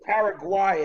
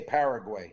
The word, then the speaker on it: Paraguay: It could be Paraguay as well. I've heard it pronounced like that, but we say Paraguay.